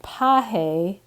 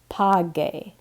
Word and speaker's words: pagar: So instead of pahe, we want it to be page with a U, or pagan with a U again.